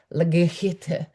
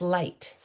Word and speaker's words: light: they notice IGH and they're not pronouncing new words as lagihite. Oh, 3 letters, 1 sound, that's light.